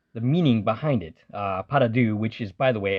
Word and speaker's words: pas de deux: way the title the meaning behind it uh paradou which is by the way a pronunciation that I looked up on YouTube uh